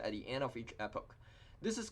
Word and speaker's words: epoch: An epoch, sometimes you hear it pronounced as an epic, it's one pass through